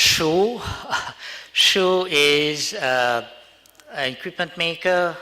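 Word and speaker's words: Shure: know from our previous speaker uh so it's pronounced Sho Sho is uh equipment maker uh we build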